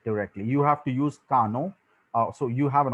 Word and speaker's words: Kano: a lot of people call call it as cano also but the right way to pronounce this is kano it's named after after the person uh who